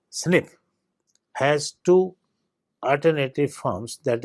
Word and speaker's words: SNP: acid in most cases asnp pronounced snip has two alternative forms